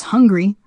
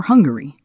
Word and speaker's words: Hungary: by R for example the word Hungary can be pronounced either as hungry or Hungary key takeaway syllabic R